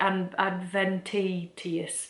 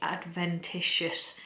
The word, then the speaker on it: adventitious: Like, I'd never seen it before in my life and was just like, Adventitious. Like, I had no idea. And everyone was like saying in the comments, it's Adventitious.